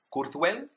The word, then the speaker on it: Kurzweil: google o donde quieras el primero es raymond kurzweil no se pronuncia así por supuesto y para porque para